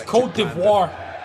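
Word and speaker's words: Côte d'Ivoire: Because it's Cote d'Ivoire.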